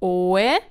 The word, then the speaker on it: oe: Note that oe has two syllables. Oe, so there the O and the E are different syllables, but for weti, the we becomes one syllable. That is because as soon as we put a case ending on oe, we pronounce the oe as we.